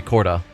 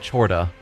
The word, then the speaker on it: Chorda: Yeah, it looks like it should be Corda, but I think he pronounced it Chorda, which feels weird to me, but I don't know. For at least this conversation, I'm going to try remembering to call it Chorda, and then by the